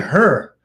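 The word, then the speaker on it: H.E.R.: uh but I did have her what was her name again her her that was her name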